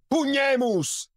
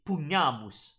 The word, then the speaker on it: pugnamus: That A sound is not correct. It should be pugnamus, pugnamus.